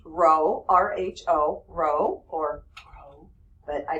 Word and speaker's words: rho: all right so this symbol right here is pronounced Rho Rho Rho or but I just say Rho all right this symbol right here is called